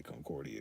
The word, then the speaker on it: Concordia: and run a uh hair salon back in concordia kansas and that is the correct way uh the correct way to say that that's how you say concordia because it's a redneck town concordia kansas probably